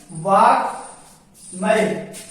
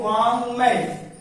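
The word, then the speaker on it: वाङ्मय: तो वा क का प्रणय मैं और ये, इसको हम उच्चारण करेंगे तो वांग्मय, वाक्मय, वांग्मय। आगे उदाहरण देखते हैं।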